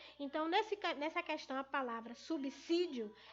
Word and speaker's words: subsídio: ela, é a palavra subsídio. Muitos têm uma mania de estar pronunciando a palavra com S, com Z, com som de Z, subsídio.